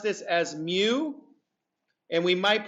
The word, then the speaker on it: mu: It's a cursive U, but it is pronounced mu.